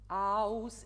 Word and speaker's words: aus: have Farben löscht sie, it has to be aus. It's a lighter A. Aus, because otherwise you lose the how do you say, the Kern in the production. You know, we lose this note because you will say something heller. Aus.